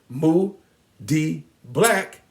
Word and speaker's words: Moody Black: name is moody black if you do the syllable count or how many beats in my name you'll discover that mu d black has three syllables it's three beats and